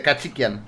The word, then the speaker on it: Khachikyan: Se pronuncia igual que se escribe. Kachikian, igual. ¡Cuidado, hombre!